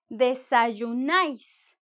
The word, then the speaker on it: desayunáis: Y en España, ellos dicen, vosotros desayunáis, desayunáis. Vosotros desayunáis con el acento en la A.